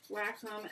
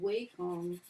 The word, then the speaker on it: Wacom: technology and other products, says Wacom is actually pronounced Wacom as indicated by their support lines recording, though uneducated people pronounce it Wacom or Wacom, which are just wrong.